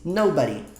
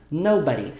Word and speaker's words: nobody: Nobody. Nobody. Algumas pessoas pronunciam nobody com o body mais forte, mas muitas mesmo, a maioria pronuncia com o no mais forte.